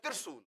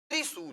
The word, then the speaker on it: त्रिशूल: तो कई लोग पढ़ते हैं त्रिशूल। तिर, तिर नहीं है, त्रि, तिर नहीं है, त्रि, त्रिशूल। तो आधा है, र के साथ ई की मात्रा लगी है, त्रि, त्रिशूल।